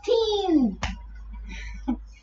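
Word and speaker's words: तीन: First there's a ta, then there's a long E sound, and then there's an N. Teen.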